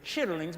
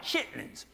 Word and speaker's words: chitterlings: to eat some chitterlings that that's the technical pronunciation were chitterlings but we call them chitlins and i tried to